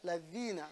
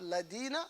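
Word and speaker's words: الذين: Ladhina. All right? Ladhina. Not ladina, not lazina. Not neither of those.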